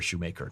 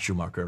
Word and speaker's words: Schumacher: got a problem here, Shoemaker, not Schumacher, that's the German pronunciation.